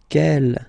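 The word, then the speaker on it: quel: And the good news is that you will pronounce them the same way. All right. So kel kel kel and ke.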